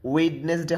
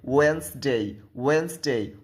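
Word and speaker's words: Wednesday: ওয়েডনেসডে হবে না, হবে ওয়েন্সডে।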